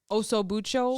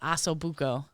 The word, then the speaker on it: ossobuco: chops, oso bucho. Sausage. Is that how you say it? Ossobuco.